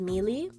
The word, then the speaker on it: Melee: I had this gray tabby called Mealy. Because like it's spelled melee.